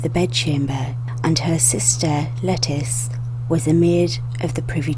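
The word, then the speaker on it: Lettice: the oldest of whom lettuce sometimes pronounced latisha or Latisse Newell's would later be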